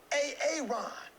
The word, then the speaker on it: Aaron: you say it the first time i said a-a-ron because it's pronounced aaron you done messed up hey